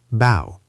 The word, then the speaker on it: bough: Bough, pronounced bow, like tree branch.